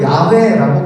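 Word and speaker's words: Yahweh: 아무튼 어떤 교단들은요, 성경에도 야훼라고 기록을 해요. 그게 뭐 이상한 표현이 아니라 히브리 원어의 표현을 그대로 쓴 게 야훼, 발음을 그대로 쓴 게 야훼거든요. 그것을 우리는 이제 여호와, 한국식으로 여호와라고 바꿔서 부르는 거죠.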